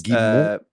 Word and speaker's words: Guillemot: Guillemot? Yves Guillemot, I believe. Guillemot? Apparently it's Guillemot.